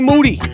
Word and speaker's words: Moody: funky all right G Moody last name rhymes with duty Michael Rapaport we are